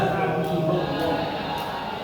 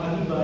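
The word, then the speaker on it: حبيب الله: Habiballah jangan cuma habibah ya. Tapi habib ah habiballah ini berupa munada apa?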